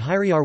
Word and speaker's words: hyrjar: Primary stress in Old Norse falls on the word stem, so that hyriar would be pronounced slash hyr.jar.